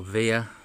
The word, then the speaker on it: Wiha: They do make Wiha, or Wiha as they like to pronounce its ratchets, and a lot of their ratchets can reach prices of about £130 odd, things like that.